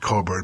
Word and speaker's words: Cockburn: And there was a woman whose name was Coburn, was pronounced Coburn, but it's spelled Cockburn, C-O-S-O. And some guy named Donald Trump.